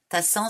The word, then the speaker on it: Tassan: Tassan, ça s'écrit T-A-2-S-A-N.